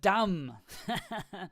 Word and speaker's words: dumb: So, or the word dumb. That's another one. Oops. There's no T there. Dumb. That's another word with the B. Yeah, so the B is silent.